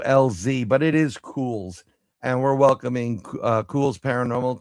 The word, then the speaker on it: Culz: But let's get our guest on because I've I used to pronounce it Kohl's C u LZ, but it is Cools and we're welcoming Cool's Paranormal to the show.